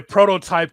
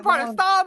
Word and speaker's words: Protostar: The the prototype Kyle Fletcher, our TNT champion as Fletcher will take on Hangman Paige for the AW Championship.